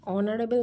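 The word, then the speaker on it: honourable: পরবর্তী আছে mister Roy is dash অনারেবল man. Mister Roy ইজ অ্যান অনারেবল ম্যান, কারণ অনারেবল উচ্চারণ করার সময় দেখো মুখটা খুলে যাচ্ছে, তো অ উচ্চারণটা চলে আসছে।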